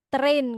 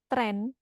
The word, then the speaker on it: train: Kamu tadi bilang mau train kan ya, train. Mempelajari atau mentraining ya. Tapi kau bilangnya apa tadi? Tren. Nah, itu sudah beda ya.